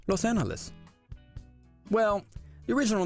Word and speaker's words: Los Angeles: toy at Alba koi so how did we get to the pronunciation that we use today Los Angeles well let's go back to the beginning in 1781 the original 44 public daughters who settled here spoke Spanish so they pronounced the name Los Angeles well the original name